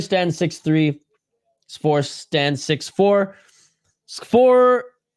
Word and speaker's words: Škvor: Škvor, I think the K is silent.